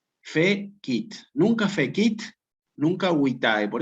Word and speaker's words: fecit: Aquí efectivamente, ¿cómo se separan estas en sílabas? Fe-kit. Fe-kit.